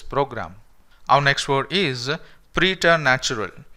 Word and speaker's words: preternatural: So here the second R can be silenced, okay? You can say preternatural, or if you want you can pronounce that second R as well and you can say it preternatural, okay?